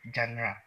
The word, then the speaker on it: genre: sabihin Emy Welling ganon pag sa jra naman ang tamang pronunciation genra kay gril Hindi ko alam